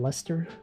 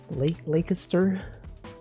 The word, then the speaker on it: Leicester: It's pronounced Leicester. Leicester.